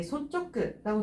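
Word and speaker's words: 率直: 근데 이끌 솔자를 읽어주게 되면 소츠거든요. 소츠. 그래서 인솔, 인, 소츠, 소츠라고 읽어줘야 되는데 지금 보게 되면은 이게 쯔로 끝나고 있기 때문에 뒤쪽에 카, 사, 타, 힘과 만나게 되면은 이거 초금으로 바뀌게 되겠죠. 그래서 솔직이라고 하게 되면은 소쪽끝 요렇게 읽어주셔야 돼요.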